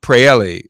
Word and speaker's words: Praeli: defend Dhaka joining us now is dreamer pray Elly my pronouncing your name correctly all right very good